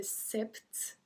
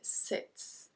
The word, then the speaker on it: sept: So it's the same thing that 20, we just don't pronounce P. 7. So we don't say sept, we say 7.